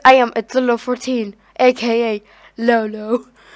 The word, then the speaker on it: Lolo: Because I am Atula 14, aka Lolo. If you don't know how to pronounce my name, it's spelled LOLO. Most of the people say, like, Lolo, the word LOL comes in your name.